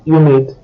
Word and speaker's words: humide: In the case of the last four adjectives, haut, heureux, humain, and humide, you will note that H is silent, but although silent, it still exists.